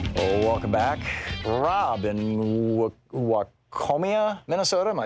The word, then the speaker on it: Waconia: Rob in Waconia, Minnesota. Am I saying it right, Rob? Waconia, Minnesota, yeah. Waconia, okay.